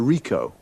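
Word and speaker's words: Ricoh: It's a Rico. Rico. How do you spell that?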